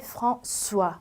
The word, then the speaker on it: François: 좀 옛날식의 이름이긴 하지만 프랑수아라고 해요. S로 발음 나기 때문에 프랑수아 많이 들어보셨죠?